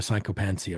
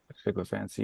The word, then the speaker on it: sycophancy: they cranked up the sycophancy, right? Sycophancy, yeah. Sycophancy. How do you say that word? Sycophancy. Sycophancy, yeah. Sycophancy. Sicko. You The sicko, and then fancy.